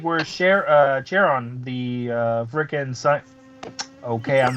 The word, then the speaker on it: Charon: Your pronunciation, that's driving me nuts. Charon.